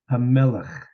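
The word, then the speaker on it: המלך: Let's pronounce that last word with a chet. I've been correcting you partially because out of habit, but let's make it a rule of thumb for the sake of learning. We'll call it a chet, or it's not a chet, but it's pronounce it as that.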